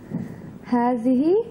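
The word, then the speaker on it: هٰذِهِ: I think Hazihi. Do you see alif here? No. No. Yeah. Just remember that you don't see an alif. So don't pronounce it.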